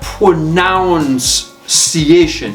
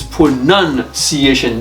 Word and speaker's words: pronunciation: so look at here it's not pronounciation it's pronunciation this the spelling of it okay pronunciation you